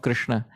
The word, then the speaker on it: Krishna: Sri Rupa Goswami says that the two syllables, Krish and Na, these are the two syllables of the name of Krishna.